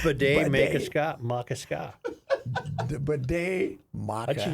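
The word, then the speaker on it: Bde Maka Ska: Becca Mecca Casa. No. Bidet. Bidet. Maca. Ska. Bidet. So bidet. I should think of a bidet.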